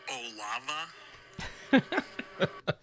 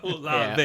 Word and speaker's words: Olave: Are you trying to tell me his name's pronounced Olava? That was incorrect. So then I say, Oh, I'll definitely make note of it. I'll say Two Strimpy had a correction on the next episode. so he says, no, it's a long A at the end.